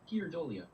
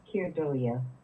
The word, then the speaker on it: Keir Dullea: I think both vowel sounds have to be pronounced somewhere.